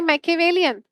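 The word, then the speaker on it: Machiavellian: इसको बोला जाता है मैकेवेलियन।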